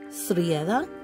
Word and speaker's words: Srijeda: Srijeda, because again the J is pronounced like AY.